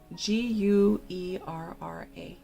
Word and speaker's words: guerra: the earth, that spelled Guerra, and it's a Spanish word for war. You could, the way you say it in Spanish is guerra.